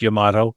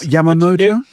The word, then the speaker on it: Yamato: And for the record it is pronounced Yamato. That's good to know. Yes. Not Yamo.